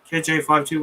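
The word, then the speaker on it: KJ-52: and so i got it's pronounced 5-2 on my birthday 10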